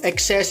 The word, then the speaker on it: Xes: You can earn a lot of excess. Now excess is spelled XES.